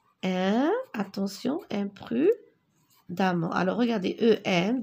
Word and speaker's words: imprudemment: L'automobiliste conduit imprudemment. Attention, imprudemment. Alors, regardez, E-M, 2 R, E-N-T. Imprudemment.